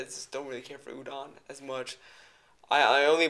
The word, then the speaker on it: UDON: is done by this reign of people that udon found online i think that's like spelled it pronounce it it's u-d-o-n uh udon has a